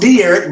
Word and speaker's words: Derek: Okay, so it's pronounced Derek, but it's okay.